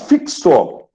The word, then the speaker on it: fixo: Então, a palavra fixo, você percebe, são 4 letras, mas você, escrevendo os fonemas, fixo, tem 5 fonemas, tá certo?